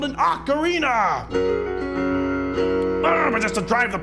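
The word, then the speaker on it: ocarina: and for the last time it's called an acarina but just to drive the home it's Ganon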